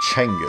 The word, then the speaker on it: Genghis: Genghis Khan. Chenghis. Genghis Khan. Chenghis. That's what. Genis. Well. GH is silent. The official pronunciation given to us in our comments was Chenghis.